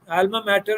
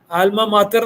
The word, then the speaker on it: alma mater: ആൽമ മാറ്റർ എന്ന് പറഞ്ഞാൽ ആൽമ മാത്തർ എന്നാണ് ശരിക്കും ഉച്ചാരണം. മാത്തർ, പക്ഷേ ഇംഗ്ലീഷിൽ പറയുമ്പോൾ ആൽമ മാറ്റർ എന്ന് പറയും.